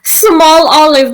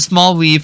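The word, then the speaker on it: Smoliv: it's really good like when the trailer first came out i was pronouncing it as a small weave but then i showed showed it to my sister and she was like i think it's more pronounced that's like an olive and i'm like okay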